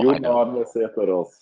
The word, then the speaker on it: Sæterus: Johan Sæterus is the correct way to pronounce it.